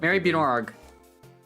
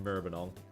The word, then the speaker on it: Maribyrnong: Mary Bjornog. MARIBYRNONG. There we go. That's the town. That's the town name I've given. I could have put it in the chat, but it's pronounced Merbenong.